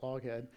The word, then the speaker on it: Loughead: Back then it was Loughead, sounds like Lockheed. They eventually changed the spelling because phonetically that says Lockheed.